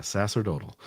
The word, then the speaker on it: sacerdotal: the uh uh the phonetic spelling sass yeah Sasser total so the sacerdotal robes end up being raised to the very